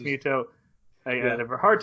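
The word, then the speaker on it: Mytho: It's pronounced Muto.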